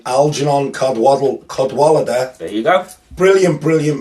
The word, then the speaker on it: Cadwalader: Jeff I always say it wrong alganon codw cadwalader there you go brilliant brilliant Midwest emo more